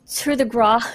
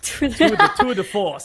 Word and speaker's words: tour de force: Once you get your ult, you've got a free 1-shot, 1-kill, basically with your, how do I pronounce it again? Tour de Gras. Tour de Force.